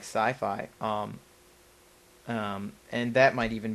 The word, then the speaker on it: Syfy: public vein of network television is places like sci-fi um and that might even be uh slightly